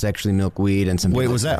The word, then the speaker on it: Milkweed: We're joined by Fig, and guys, correct me if I say this wrong, Fig and Maple Milkweed?